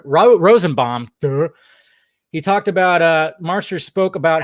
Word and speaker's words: Marsters: okay so James uh Marsters is that how you say it Marsters not Masters Marsters um he was